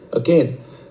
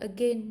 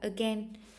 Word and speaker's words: again: During the show, again, the performance will start short. Cái từ này tuy là mọi người hay đọc là again, nhưng thật ra nó là again. Em ạ, nó là âm E nhé.